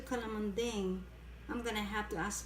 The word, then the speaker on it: calamondin: How do you say this? Calamonding. Calamonding? Yes. Like dingbat? Yeah.